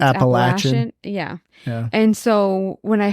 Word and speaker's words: Appalachian: Yeah, well, because it's also I want to say too, because where I'm from, we always say like the Appalachian Trail, yeah, but it's actually pronounced Appalachian.